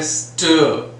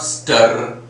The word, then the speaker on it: stir: And same way stir. It's not stir. It is stir.